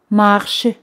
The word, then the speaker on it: marchent: Bien, les gens marchent. Les gens marchent. Aquí ENT no se pronuncian. De la tercera persona en plural, ENT no se pronuncian. Se escriben, pero no se pronuncian.